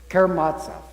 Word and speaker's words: Karamazov: Karamazov.